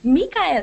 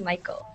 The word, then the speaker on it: Mikael: He's like, no, it's actually Michael. Oh, really? Yeah, it's actually Michael. So now you guys know. When you read that, it's actually like it's pronounced like the traditional name Michael, but it's spelled really strange.